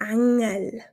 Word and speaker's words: Engel: dass wir ein E ein offenes e eher wie ein a aussprechen je nach Dialekt stärker und oder schwächer ich zeige dir Beispiele der Engel sprechen wir auf Schweizerdeutsch so aus der Engel der Engel also sowohl